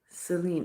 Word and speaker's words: Selene: How do we pronounce it? Selene.